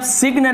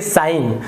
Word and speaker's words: sign: उसी प्रकार से SIGN, तो इसे आप सिग्न नहीं पढ़ेंगे, आप जी यहाँ पे लिखा हुआ है लेकिन इसका उच्चारण जी यहाँ पर नहीं आ रहा। देखिए साइन, यहाँ पर जी कहीं